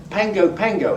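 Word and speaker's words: Pago Pago: There's Pango Pango.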